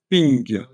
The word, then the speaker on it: PNG: l'abbréviation portable network graphics mais en fait ça se prononce ping en anglais ping voilà quand vous entendez